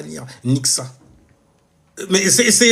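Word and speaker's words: Nyxa: Nixxa. Mais c'est c'est N Y X A, donc euh forcément ça se lit comme ça, ça se prononce comme ça aussi, !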